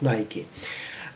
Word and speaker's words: Nike: very interesting article with the title there is Nike somebody pronounces this word like Nike it is the company producing the sports equipment but originally it must be pronounced as Nike so there is Nike the money and the